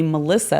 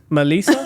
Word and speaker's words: Melissa: my my first name I'm so used to people calling me Melissa it's actually not pronounced that way did you know that no Melissa Melissa I mean yeah with a little accent a little accent Melissa but you know Melissa